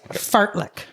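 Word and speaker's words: fartlek: Mine is fartlick. Fart Fartlick. Fartlick. How can you spell that for me, please?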